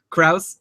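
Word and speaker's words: Crouse: Oh, we're seeing in the chat room rhymes with house, Kraus, and then he says he doesn't even know.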